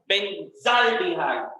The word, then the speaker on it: benzaldehyde: Benzaldehyde, or actually correct pronunciation is benzaldehyde.